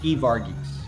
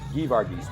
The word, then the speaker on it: Geevarghese: Geevarghese. Geevarghese, both hard G's.